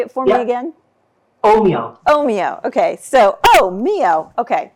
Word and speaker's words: Ohmio: Ohimo.